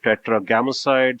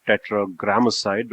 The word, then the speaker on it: Tetragrammacide: Sometimes I call it Tetragrammacide, sometimes I call it Tetragrammacide, which is actually what it is.